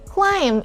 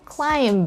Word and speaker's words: climb: and not thumbnail okay climb and not climb can you climb that